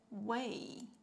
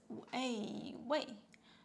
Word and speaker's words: 喂: Okay, so the word you can use, that is the way. Yeah, this character. The pronunciation is way.